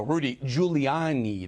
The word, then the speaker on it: Rudy Giuliani: Let's bring in former mayor of New York City, former attorney for Donald Trump, friend of mine also, Rudy Giuliani.